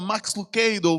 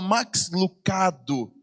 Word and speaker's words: Max Lucado: Pronunciava como nós pronunciamos aqui no Brasil. Ela não falava Max Lucado, falava Max Lucado.